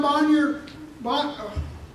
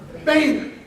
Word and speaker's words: Boehner: House Speaker John Bonnier, I always mispronounce his name. John Boehner, thank you, who has appointed Congressman Pittenger to